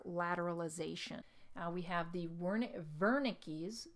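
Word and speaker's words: Wernicke: we have the warning Verna Keys Verna keys so we see that this is spelled with a W but it's pronounced with a V so Verna Keys area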